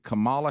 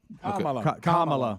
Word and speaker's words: Kamala: now again I know we had to be schooled on how to pronounce her name correctly is it Kamala Harris yeaha Kamala it is so it's Kamala Harris gosh I want to